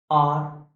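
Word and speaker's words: hour: A quarter of एन आर, क्योंकि आर start तो एच से है बट आर प्रोनाउंसिएशन आ से है, तो एन का यूज करेंगे यहां।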